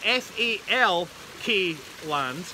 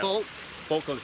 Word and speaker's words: Falkland: It's spelled F-A-L-K land. Yeah. Falkland.